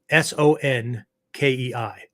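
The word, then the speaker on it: 尊敬: language alphabet to spell out the Japanese uh syllables right so sanke s-o-n-k-e-i sonke right sonke is a word that generally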